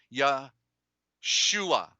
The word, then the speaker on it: Yahshua: like that but the the truth is the the u is a corruption and it's two o's it's really like that ya shua you see in there